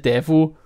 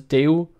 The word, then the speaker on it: Daewoo: it's written Daewoo and so Germans would like pronounce it devil and then the air was telling you it was do it was very confusing for Germans so they